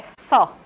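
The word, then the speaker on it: saw: O passado dele é só. Como se fosse a letra O no final, só. Não pronuncia a letra W, tá? Não pronuncia como se tivesse U, é só.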